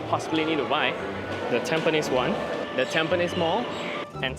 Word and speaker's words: Tampines: Second station, Tampines. Be very careful when pronouncing this station because it can get very disastrous very quickly. It's Tampines, but I've also heard Tampines and Tampi.